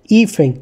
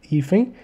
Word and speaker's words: hífen: A sílaba tônica está no I, que é o número 2, ou no fen, que é no número 1. Eu falo hífen, eu não falo hífen. Então, o I é a sílaba mais forte, está no número 2.